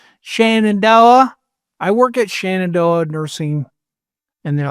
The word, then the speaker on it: Shenandoah: How they say Shenandoah. It's obviously spelled Shenandoah, but they say Shenandoah. Both are mispronunciations because it's an Iroquois word, Zinadoa, and it means daughter of the stars.